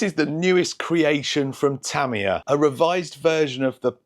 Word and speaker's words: Tamiya: love for Tamiya, or the correct pronunciation is Tamiya. I've been saying Tamiya since I was a kid, so it's going to be hard for me to transition over to the correct way to say it, Tamiya.